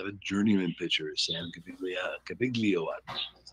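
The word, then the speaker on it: Gaviglio: We know it has to have a journeyman pitcher, Sam Cabiglio. That's how it's pronounced.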